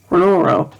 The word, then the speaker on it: R'hllor: Logically, people speaking Highvale would slur the pronunciation of a foreign word, which is the reason why Thoros pronounced it as R'hllor, which might explain the mistake in the subtitles, though it was spelled